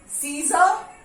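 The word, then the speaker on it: scissor: तो सी after S जब भी सी का यूज होता है तो वहां पे सी साइलेंट होता है. Muscle, सीजर, scenario.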